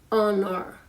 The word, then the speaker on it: honor: the this word is h o n o r honor honor silent h has those silent letters